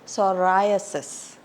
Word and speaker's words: psoriasis: specialist autoist autoist oenologist common condition that is mispronounced is sasis it's not sasis it is psoriasis the next term is p it's not Pik